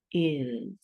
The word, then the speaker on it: is: So this lesson is all about this little word right here, is.